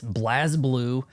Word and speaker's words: BlazBlue: It's BLAZBLUE. I do not see an E in there to indicate Blaze. I will pronounce it different if the game says otherwise.